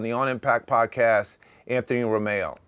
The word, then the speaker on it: Rumeo: on impact podcast Anthony Romeo just like the car right just like the car I have to actually SP it incorrectly so it's spelled Ru Meo now but that's only